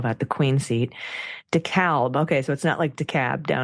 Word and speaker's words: DeKalb: The AL in DeKalb is pronounced like the name Al Gore.